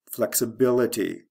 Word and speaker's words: flexibility: Flexibility. First syllable to third syllable.